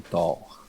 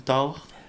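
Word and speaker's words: taure: vachette au Québec on appelle ça aussi une tort une tort. Comme comme que j'ai eu j'ai eu tard mais ça s'écrit comment une t une t t a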